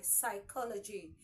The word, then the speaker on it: psychology: l o g y psychology the P there is presence of p in Psychology but you know all know that the p in that word is useless so you pay attention to the sound you get from each letter and not the the letter itself let's focus more on